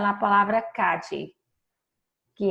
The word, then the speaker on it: calle: Eu expliquei para vocês que as possíveis pronúncias de la doble L, que são o dígrafo, ele são a repetição da letra L duas vezes, eu posso dizer la calle, com LH, la calle, com DJ, com som de DJ,